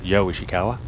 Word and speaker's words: Ryo Ishikawa: On the tee from Japan, Ryo Ishikawa. That's what follows him every day of his life. What a great shot that is. We'll call him Yo, Japanese pronunciation. Yo Ishikawa.